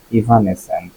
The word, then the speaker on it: evanescent: এভানেসেন্ট অর আচ্ছা, উচ্চারণটা দেখে নেই। আমি দুইটা কারণে হলো গিয়ে এখানে উচ্চারণটা দেখি। কারণ একে তো আমি যখন বানানটা লিখি আমার বানানটা প্র্যাকটিস করা হয়ে যায়। ইভানেসেন্ট, হ্যাঁ ইভানেসেন্ট মানে শোনাচ্ছে।